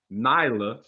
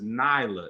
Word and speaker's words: Nelia: don't know how that i thought it was the leah because it's spelled n-e-l-i-a i'm thinking that's an elite okay but it's nila it's not like that that's not it neither that's not it neither what does it do okay it's not a short e i remember that from elementary school it's a long it's knee like e i'm saying like meal yeah okay man that's